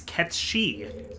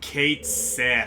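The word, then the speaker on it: Cait Sith: uh in Gaelic mythology, the king of cats is Katie. Oh, Kate Sith. In Final Fantasy 7, there's a character named Kate Sith. Yep. Oh, dude. So many people were freaking like like for some reason salty about it. I am very salty about it cuz it's wrong.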